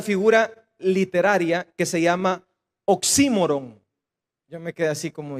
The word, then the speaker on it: oxímoron: Esta es una figura literaria que se llama oxímoron. Yo me quedé así como, ¿y eso qué es? Oxímoron, y lleva tilde en la I, oxímoron.